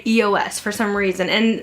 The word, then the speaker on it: eos: here and there, but I think it is EOS is how you pronounce them, and I'll have all these linked down below as well.